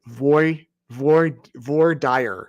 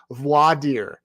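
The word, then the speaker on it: voir dire: about but last night I mispronounced it I said VOR dire or something like that and I heard about it from you all so thank you for your messages voidir voi means true it's a French word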